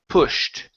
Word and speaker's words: pushed: is pushed right here instead of P pushed it's an uh sound so P pushed pushed good job hadn't pushed